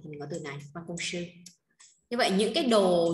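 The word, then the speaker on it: 办公室: Từ đọc là ban công sư là văn phòng làm việc nhé.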